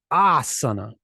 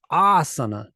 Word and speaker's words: Asana: for your ass and the pronunciation sounds like that Asana Asana Asana and conscientious and when